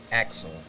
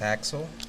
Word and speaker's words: Aksel: It make me feel Axel because my real name is Axel, Yeah. but I spell it different. So every time I said it the way I said it, like Axel, is me.